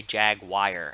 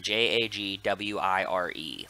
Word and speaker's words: Jaguar: Like, I say Jagwire, as in J-A-G-W-I-R-E.